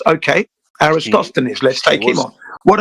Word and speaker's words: Aristophanes: I'm not sure how to pronounce his name, but I think it's pronounced Aristophanes. Yes, okay. Aristophanes.